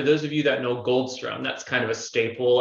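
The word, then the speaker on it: Goldsturm: you mentioned gold star goldstrum yes gold storm is uh or goldstrum depending on how you pronounce it is is a very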